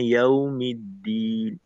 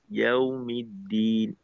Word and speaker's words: يوم الدين: তো ওই ক্ষেত্রে দুইটা শব্দকে একসাথে উচ্চারণ করতে হয়, বা স্পেস ছাড়া একসাথে উচ্চারণ করতে হয়। যেমনটা কিনা এখানে ইয়াউমিদ্দিন, ইয়াউমিদ্দিন একবার উচ্চারণ করতে হবে, এখানে কোনো বলার ক্ষেত্রে দূরত্ব আসবে না বা পার্থক্য আসবে না।